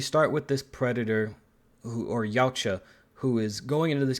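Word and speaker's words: Yautja: That's how it's pronounced, but Yacha Prime, which is kind of weird that it's called Yacha Prime.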